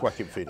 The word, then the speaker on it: Joaquin Phoenix: Yeah, it is Joaquin Phoenix.